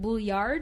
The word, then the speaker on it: Bouillard: And so the spoiler alert of all of it is that Vincent Bouillard, is that how you say it? Nailed it. You can make it super French and make it Vincent.